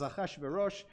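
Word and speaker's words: אחשורוש: So you'll hear Melech, and Mordechai is Mordechai, Ahasuerus is Achashverosh, Esther is Esther.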